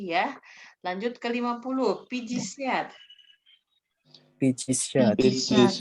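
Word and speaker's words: пятьдесят: Pijisiat. Pijisiat, Ya, pijisiat bukan piat-jiset ya. Pijisiat bacanya.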